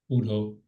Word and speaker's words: Údhộ: I don't know the pronunciation. Is it Údhộ? Údhộ.